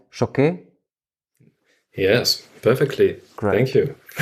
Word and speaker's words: Choquet: Did I pronounce this right? Choquet?